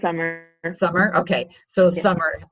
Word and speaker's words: Samar: how is their name it's actually pronounced summer and summer okay so